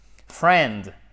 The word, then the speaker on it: friend: Friend. On ne prononce pas le « i ».